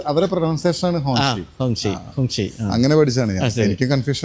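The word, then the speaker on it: Hongqi: നല്ലത് കാണാൻ ഈ ഇതുപോലെ ഹോങ്ങ് ഷി എന്നാണ് കേട്ടോ ഹോങ്ങ് ഷി എന്നാണ് ശരിക്കും ഉച്ചാരണം അതെ ഹോങ്ങ് ഷി ഹോങ്ങ് ഷി ഹോങ്ങ്ഷി എന്നാണ് ഹോങ്ങ് ഷി അപ്പൊ എഴുതുന്നത് ഇങ്ങനെയൊക്കെ ആണെങ്കിലും ആ ഉച്ചാരണം അങ്ങനെയാണ് പിന്നെ ഇതൊക്കെ എൽഇഡി സ്ട്രിപ്പ് തന്നെ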